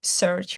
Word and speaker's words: Psirch: absolutely so uh search uh is pronounced it's pronounced search but it's spelled PS i r c uh